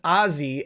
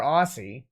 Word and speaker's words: Aussie: go here we go aussie is pronounced ozzy as in osborne i mean or aussie how it's spelled so